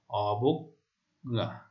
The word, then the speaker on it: অবজ্ঞা: তারপর মধ্য অ ব, তারপর বর্গীয় জ রয়েছে, তাহলে কি হবে এখানে উচ্চারণটি? মধ্য অ বা ব এর উচ্চারণ ও এর মতো হচ্ছে, দেখো, অবজ্ঞা।